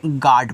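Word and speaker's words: God: जी ओ डी को पढ़ते हैं। आप यहां पे गार्ड पढ़ोगे।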